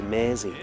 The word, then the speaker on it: Mersey: and if you want to pronounce it the Liverpool way, you have to say Mersey, you know, with a Scouse accent.